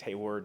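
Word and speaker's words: Hayward: uh Colonel Haywood Al they spelled his name wrong um it's hey word not Haywood um it also mentions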